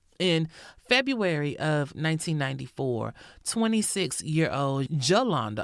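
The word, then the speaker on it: Jolanda: In February of 1994, 26year-old Jalanda, I'm assuming we got we're going to pronounce the J. It's J O L A N D A. So, Jalanda Jones was killed in Pine Bluff, Arkansas.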